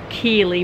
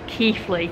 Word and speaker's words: Keighley: worth Valley Railway and I did always used to call this station Keely but I Now Pronounce it Keithley anyways I would actually